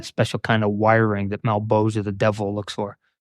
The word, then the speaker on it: Malebolgia: Malebolgian? I don't know. He pronounces his own shit weird. That's Todd McFarlane. Oh, so Malebolgia. That's it. Okay. Malebolgia. Yeah. The one that's spelled malebolgia.